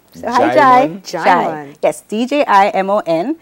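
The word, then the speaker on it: Djimon: His name is Jaimon. So hi, Jaimon? Jai. Yes, D-J-I-M-O-N. It's a Yoruba name. D-J-I-M-O-N. Jaimon. So the D is silent.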